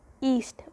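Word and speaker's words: yeast: इसको हम क्या प्रोनाउंस करते हैं, ईस्ट। वाई is silent, it is pronounce as ईस्ट।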